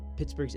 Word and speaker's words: Pittsburgh: Even today, the spelling of Pittsburgh is confusing for a lot of Americans, especially if you're not from here. It remains one of the few towns or cities pronounced burg that ends in an H.